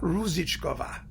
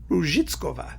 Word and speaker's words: Růžičková: Pronounce that correctly in Czech. Now, it's Susanna Růžičková, right? Something like that. I mean, it's Růžičková. That's what it is. I mean, you have to get the Z correctly in Czech spelling.